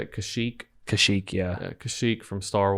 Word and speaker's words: Kashyyyk: Kashyyyk, yeah.